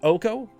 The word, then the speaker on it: Oko: of the new Planeswalkers is it pronounced OCO like Yoko Ono but yep like OCO is that sort of how it's pronounced okö FIFO crowns for one